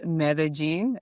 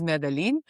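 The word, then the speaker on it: Medellín: And you are pronouncing very well Medellin because people tend to think that it's Medellin.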